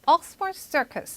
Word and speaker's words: Oxford Circus: Oxford Circus 이렇게 얘기했었죠. 자, 그래서 여러분 앞부분에 두 단어 이상으로 된 그 명사가 고유명사를 나타낼 때 앞쪽에 강세를 뒀다고 보시면 됩니다.